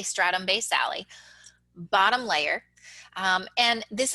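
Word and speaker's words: stratum basale: the epidermis and this layer is called the stratum based sally we'll talk more about this one in a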